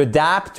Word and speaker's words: adapt: To adapt. Vous voyez que vous avez votre accentonique ici sur la seconde syllabe du mot.